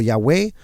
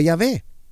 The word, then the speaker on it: Yahweh: Aún estos 4 consonantes comúnmente se pronuncian como Yahweh o también a veces como Yahvé o Yah, así también como la acepción común de Jehová o Jehová.